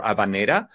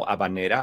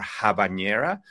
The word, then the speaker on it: habanera: saying it right now abanera I hear in the United States it's often called abanera or habanera often creating a near sound which is not how it sounds in Spanish I think that's a